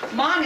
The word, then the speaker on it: Hmong: Now, Hmong is spelled H-M-O-N-G, so it's not like, it sounds.